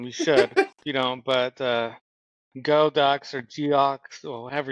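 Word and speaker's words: Geaux: You don't, but Go Ducks or Geox, or however you spell it. But I know how to say the word, but It's Go. G-A-U-X Ducks.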